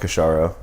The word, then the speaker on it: Kashoro: my own name I like that but yes pronounced kisara okay yeah cool so I think let's just